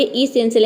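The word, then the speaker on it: essential: यहाँ पे next word है इसेंशियल, इसको हम प्रोनाउंस करेंगे इसेंशियल। यहाँ पे देखिए ई का ई हो गया, ठीक है, और SSENA हो गया आपका सेन, और TIAL हो गया सेल।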